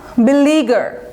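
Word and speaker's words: beleaguer: Pester, ফেস্টার, বাগ, বিলিগার, উচ্চারণটা খেয়াল করেন, বিলিগার। খুব একটা কঠিন না, তবে বানানটা আছে। হ্যাঁ, বানানটা কিন্তু সেন্সিটিভ আছে, ভালো করে দেখে নেবেন। LEA, BELE, বিলি, হ্যাঁ এভাবে টান দেবেন, বিলিগার।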